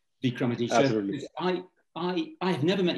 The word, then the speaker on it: Vikramaditya: I hope I pronounced it correctly, Vikramaditya.